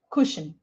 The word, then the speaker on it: cushion: A lot of people make mistakes in this word here and they say ba, but it's u actually, right? Like book. So bush, woman, cushion, not ka, ku, cushion, right?